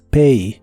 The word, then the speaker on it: pay: presente de inglés es Pay La a realmente se pronuncia como e en esta palabra pay pay y la puedes usar